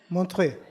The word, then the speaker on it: Montreux: ¿Se pronuncia bien? ¿Montreux? Montreux.